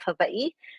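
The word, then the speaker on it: Hawaiʻi: I grew up and was raised on the island of Havi. Yes, that's the right way to pronounce it. The W is pronounced as a V.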